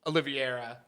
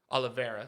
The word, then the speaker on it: Oliveira: a part of this equation it should be olivieri uh and gaiji for a wild ass fight that i i truly believe charles oliveira wins that fight yeah oliveira sorry saying it wrong uh i think that's